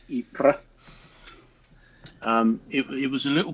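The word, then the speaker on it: Ypres: it wasn't that um as the British used to call it wipers because it's it's spelled y-p-r-e-s ipra um it was a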